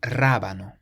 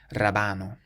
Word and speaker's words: rábano: This next word means radish, and it has an accent on the first A, so we say rábano, rábano, rather than rabano or rabano.